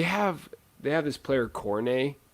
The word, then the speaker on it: Cornet: they have this player coronae it's spelled cornet he's really good they